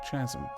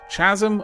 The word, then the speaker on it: chasm: flows within a deep Chasm Chasm oh my Lord Chasm that is such a that's like a criminal offense pronouncing Chasm like Chasm ah okay moving on